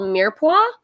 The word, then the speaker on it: mirepoix: Is carrots are part of a French kind of preparation called mirepoix. Are you familiar with that term, mirepoix? I will spell it in the chat.